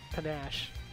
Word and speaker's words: panache: Panache. That's how you say that word. Like, totally butchered that word. I don't know why. In my mind, I was thinking it was spelled with an I for some reason.